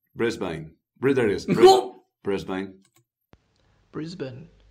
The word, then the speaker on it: Brisbane: I know this is I know this is Brisbane but I'm going to say Brisbane I'll say it the Australian language Brisbane Brisbane Britain Brisbane Brisbane not